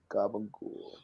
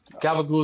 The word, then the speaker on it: gabagool: It's supposed to be like Gabagool. Gabagool is like the way New Yorkers pronounce Capicolo or something. It's a New York Italian thing.